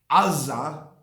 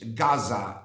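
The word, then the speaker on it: עזה: Likewise, Azza becomes in English Gaza because the Gaza cannot be pronounced in English.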